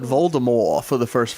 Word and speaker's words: Voldemort: Dale also said Voldemort for the first 5 books, so fuck him.